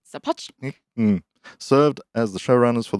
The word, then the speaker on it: Sapochnik: Sapochnik? Sapochnik.